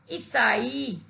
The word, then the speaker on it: ईसाई: बच्चों, इस शब्द में छोटी ई के स्थान पर जब हम बड़ी ई का प्रयोग करेंगे तो उसका शुद्ध उच्चारण बनेगा ईसाई।